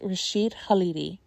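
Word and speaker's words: Rashid Khalidi: people's names right matters his name is pronounced Rasheed halidi um and this is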